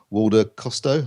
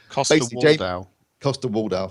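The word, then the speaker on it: Coster-Waldau: You've got Nicholas Walder Costo, I can't pronounce his name. Costa Waldau, thank you.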